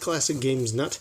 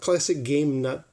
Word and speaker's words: ClassicGamesNut: did his name wrong it's not classic game nut singular its classic games nut plural so that's set worthy